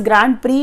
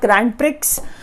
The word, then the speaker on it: Grand Prix: It is pronounced as Grand Prix, not Grand Prix.